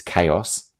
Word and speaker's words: chaos: I wonder if you think to yourself, how might students mispronounce this word? So it's chaos, but it sort of looks like chaos, or it looks like chaos, for example, or chaos, depending on how you pronounce the vowels in that word.